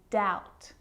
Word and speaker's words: doubt: subtle debt and doubt so see in all of those examples my lips aren't closing and coming together to form the b sound i'm just pronouncing the t subtle debt and doubt now the letter c